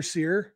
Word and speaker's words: Cyr: say the name Tyler Seer you guys love the Dodgers you you might be thinking who and then if I remind you seir is spelled cyr you'd be like oh